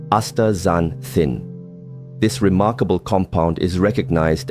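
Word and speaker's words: astaxanthin: It's called aanthin pronounced a zanthin.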